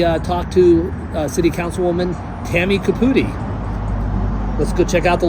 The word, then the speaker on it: Caputi: Caputi, that's Caputi, perfect.